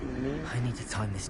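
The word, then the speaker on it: Niamh: So it's pronounced Neve.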